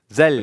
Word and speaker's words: Zeļļi: Is like Zeļļi correct? Zeļļi. Rīgas Zeļļi. With Z. Zeļļi. Rīgas Zeļļi. Yeah. Rīgas Zeļļi. Okay. Yeah. Zeļļi is correct.